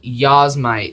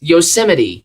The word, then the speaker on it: Yosemite: to respect numbers anymore the new version is called yazmite no z yosemite yosemite all right i'm pronouncing things correctly now mac os 10